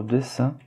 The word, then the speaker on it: dessin: Donc 3, troisième dialogue peut être associé au dessin. Rappelez-vous la prononciation de la voyelle nasale IN, là c'est 1, donc c'est dessin, ce n'est pas dessin, mais c'est bien dessin.